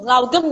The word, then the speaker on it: lagom: Yang terakhir saya lagi baca ini, Lagom. Lagom. Oke. Bacanya Laugem gitu ya.